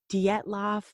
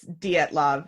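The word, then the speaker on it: Dyatlov: Caitlyn and Sophie here what you guys are talking about is the Dietl pass am I saying it right I think you are I think I think it's D at love it for our listeners it's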